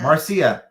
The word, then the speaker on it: Marcia: with Haron and with Marcia Marcia rhymes with Garcia Garcia and that's what